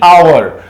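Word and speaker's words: hour: ओ यू आर तो जब भी हा के बाद ओ आता है ना तो ओ को इस हा को हम साइलेंट कर देते हैं ये एक्स तो हो गया साइलेंट तो इसको किस तरह से पढ़ा जाएगा आर यानी अवर अवर ए का साउंड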